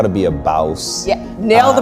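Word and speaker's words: Bawse: So your book, How to Be a Bouse. Yeah, nailed the pronunciation.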